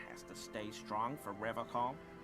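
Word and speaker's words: Revachol: But someone has to stay strong for Revacol. He pronounces Revacol with a hard K.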